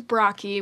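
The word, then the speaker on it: Brocchi: for my last name my last name is brocky which is spelled b-r-o-c-c-h-i uh so most people cannot sound it out um you'd be surprised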